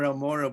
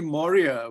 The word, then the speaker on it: Moria: your name you know you often tend to mispronounce it because you know more are more amora but it's actually moria which is you know